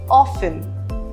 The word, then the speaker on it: often: It is not exactly a rule, but there are some words in which the letter T is silent. For example, often, fasten, listen, Christmas, castle.